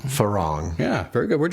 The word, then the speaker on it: Farang: Today I'm here with Jim Binella and it's pronounced Farang. Farang.